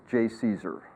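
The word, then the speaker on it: JCESR: pronounce otherwise you don't exist so that is pronounced J Caesar and the idea is to you know strike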